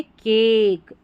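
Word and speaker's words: cake: तो यहां पर इस ए का उच्चारण लॉन्ग होगा। अब यहां पर हम केक नहीं पढ़ेंगे। केक। क्या पढ़ेंगे? केक। ए का उच्चारण ए का उच्चारण होगा लॉन्ग। लंबी ध्वनि रहेगी केक।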